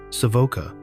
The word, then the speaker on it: Savoca: Savoca, with stress on the first syllable, is a hidden gem that visitors should discover before it becomes widely known and loses its authentic charm.